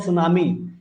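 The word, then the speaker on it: tsunami: एक लास्ट और है सुनामी। उसके बाद मेन मेड देखेंगे। सुनामी। सुनामी क्या होता है? जिसको टी से रिप्रेजेंट किया जाता है। ध्यान रखिएगा। एस यू नहीं होता है। टी साइलेंट है यहां पे।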